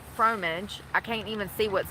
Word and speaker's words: fromage: Is it pronounced fromage? The fromage, Fromage.